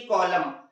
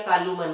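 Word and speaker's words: column: जैसे एक स्पेलिंग देखिए यहाँ लिखी है ऑटम, और दूसरी देखिए कॉलम, तो इसे हम लोग ऐसा नहीं बोलते आटूमन या कालूमन, क्या पढ़ते हैं, ऑटम और कॉलम, क्योंकि M के बाद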